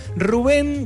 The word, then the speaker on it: Rubén: No, Rubén es. Pero con acento en la E.